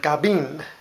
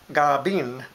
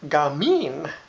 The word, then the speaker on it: gabin: But also we use the word gabin, gabin, or gamin if you're from Central and Western dialects.